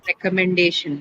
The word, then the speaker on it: recommendation: So day and shin are two different syllables. Among this which one do you have the stress and uh h on day right recommendation.